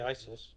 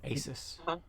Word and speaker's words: Asis: Don't say ISIS. No, Asis.